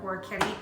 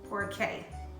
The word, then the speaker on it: Orecchiette: back to my kitchen, and today I'm going to be making some Orecchiette macaroni with sausage and broccoli rabe.